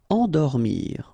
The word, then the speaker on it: endormir: Endormir, okay? Nasal here, en, and then dormir.